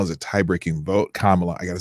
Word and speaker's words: Kamala: though there's 50 50 in the senate and kamal is a tie-breaking vote kamala i gotta say her name right kamala is